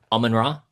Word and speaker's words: Amun-Ra: I love that Cleopatra right at the start of I want to make sure I'm pronouncing it correctly. Almond Raw.